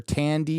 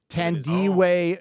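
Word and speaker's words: Thandiwe: uh is it fandy or thand way or Tandy what is it now standing Andy is what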